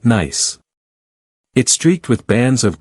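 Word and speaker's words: gneiss: The rock beneath your feet is a cast and nice pronounced nice.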